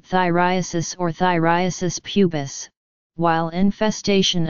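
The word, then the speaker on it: Phthiriasis: Infestation with pubic lice is also called thyriasis or thyriasis pubis, while infestation of eyelashes with pubic lice is called thyriasis palpebrarum or pediculosis ciliarum.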